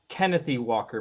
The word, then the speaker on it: Kenneth Walker: I think it's pronounced Kennethy Walker, by the way.